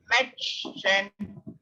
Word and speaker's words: Mädchen: See this umlaut on the head, so you have to pronounce it as a. So try to read this sentence like M-A, may, met, met, Mädchen, Mädchen, Mädchen, Mädchen. It's a girl, Mädchen.